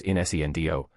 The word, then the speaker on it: incendio: The spell to destroy the spiky bushes is the conjuration spell to make fire, incendio, Professor Sprout told us. The spell's pronunciation is insendo, and the wand movement is as if you were drawing a flame, it goes up and down.